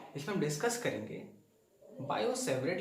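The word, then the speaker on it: Biot–Savart: मुझे भी ऐसे लगता था, लेकिन एक्चुअली होता क्या है, ये टी साइलेंट रहता है तो इसे पढ़ा जाता है बायो-सेवरेट लॉ।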